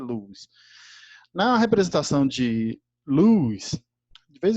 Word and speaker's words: Lewis: de luz tá luz a gente fala lewis mas na verdade a pronúncia certa e luz não representação de luz